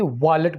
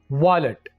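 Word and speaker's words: wallet: बटवे को इंग्लिश में वॉलेट बोला जाता है, इसको वायलेट नहीं बोलना, वॉलेट।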